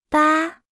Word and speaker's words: 八: 八，八，八，八，八，八，八。 Se pronuncia con el primer tono.